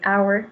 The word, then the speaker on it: hour: Euh attention, par contre, c'est hour, hein, pour l'heure.